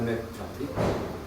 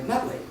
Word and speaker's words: McNulty: It was Father McNulty. And I still have trouble. My mother always mispronounced his name. She would call him Father McNutley.